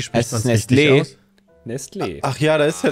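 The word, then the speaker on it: Nestlé: von, und ich spreche es absichtlich falsch aus, Nestle abgebildet? Wie viele Vögel? Was ist denn da falsch? Erstmal, wie spricht man es richtig aus? Nestle.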